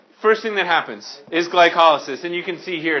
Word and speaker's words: glycolysis: occurs it's called glycolysis glycolysis if you look at it kind of looks like glycolysis but if you say glycolysis you're just putting the wrong emphasis on the wrong cabble so you got to go with glycolysis Michael I'm better than